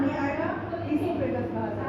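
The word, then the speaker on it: oesophagus: ओ से शुरू हुआ लेकिन ओ का उच्चारण नहीं आएगा। इससोफेगस कहते हैं।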